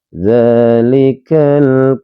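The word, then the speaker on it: ذلك: di huruf yang pertama huruf dza di sini dibaca panjang. Ketika ada huruf yang dibaca panjang dalam ilmu wajib dibaca panjangnya dua harakat dinamakan hukum bacaan mad thobi'i teman-teman ya. Dalikal.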